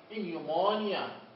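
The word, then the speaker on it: pneumonia: البي مع الآن، البي عطول سايلنت. ليش بنلفظها؟ فقط أن. مثال إنيومونيا، إنيومونيا.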